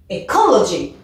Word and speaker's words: ecology: Celui-ci fait 4 syllabes. Alors, on doit accentuer sur la deuxième. Ecology.